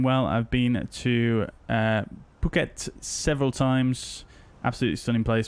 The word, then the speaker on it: Phuket: I've been to uh Phuket several times absolutely stunning place by the way it's pronounced pockets okay gotcha yeah it's